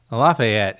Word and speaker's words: Lafayette: There's a street called Lafayette. No. Lafayette. And Lafayette is the correct pronunciation of Lafayette. Lafayette. But people in Nashville call it Lafayette.